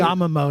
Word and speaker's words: Yamamoto: Yamamoto.